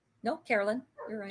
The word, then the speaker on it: Carolyne: am I saying your name wrong? No, Carolyn, you're And right.